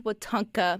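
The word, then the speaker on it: Wetumpka: i mean not alabama am i saying it right sonia yes yeah and so you say it fast and then it sounds like you've got it instead of trying to say it slow and they did a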